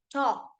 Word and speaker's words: talk: L is silent okay my L is silent we don't say talk we say talk talk so t o